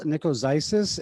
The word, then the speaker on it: Nicozisis: And it's easy to remember because it's Nikos and Isis, like the Greek or the Egyptian goddess.